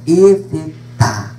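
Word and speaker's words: Efetá: efeta embora eu eu prefira falar no hebraico né efeta a última sílaba né abre-te e os demais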